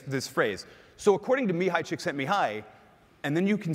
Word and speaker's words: Csikszentmihalyi: hands and the reactions all of you have read his name and not known how to say it is that so me hi Csikszentmihalyi some people say csikszentmihalyi which I think it sounds way too much like chicks think of me highly and so and by